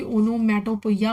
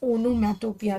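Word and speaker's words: onomatopoeia: अब इसे कोई कोई ओनोमैटोपोइया बोलता है, लेकिन इट्स नॉट a correct pronunciation, it's ओनोमैटोपिया, ठीक है।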